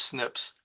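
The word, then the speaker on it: SNP: bunch of base pairs which are called snip pronounced Snips uh single nucleotide polymorphisms so Snips is a whole lot easier mouthful than that uh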